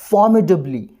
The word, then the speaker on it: formidably: की साउंड, फिर ब की साउंड, ल की साउंड, ये शॉर्ट ई की साउंड, और जो स्ट्रेस की पोजीशन रहेगी वो फ वाली साउंड के ऊपर रहेगी।